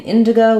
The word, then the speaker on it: indigo: the color as well so in Indigo we stress on the in syllable in go um and then we have letter I saying the relax T the relax I sound and then in the word we have the go just like in the word go Indigo um yeah good